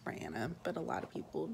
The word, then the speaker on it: Brianna: It's pronounced Brianna, but a lot of people just call me Bri, so I think I'm just gonna go by Bri.